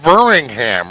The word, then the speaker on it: Birmingham: It's Birmingham, right?